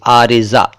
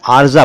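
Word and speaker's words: عارضہ: एन, अलिफ, रे के नीचे जेर, ज्वाद और हे, आरिजा। वैसे आरिजा लिखते हैं लेकिन आरिजा बोल देते हैं और कई बार जल्दी में आरजा बोल देते हैं, लेकिन सही उच्चारण है आरिजा।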